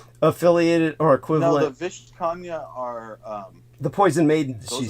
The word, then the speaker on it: Vishkanya: Vishtakanya? Yeah. Perhaps, but I think you're. How do you spell that? Pronouncing it wrong. Yeah. Say it again. Vishkanya.